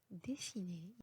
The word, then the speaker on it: dessiner: هنا le R est muet. Donc exemple pour ça, manger, parler, dessiner.